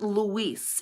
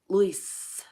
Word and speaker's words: Luis: And he said, my name is not Luis. It is Luis. Luis. It is one syllable. It is not Luis.